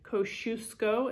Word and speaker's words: Kosciuszko: e for l bruce e for europe um kosciuszko is how you say because she's going to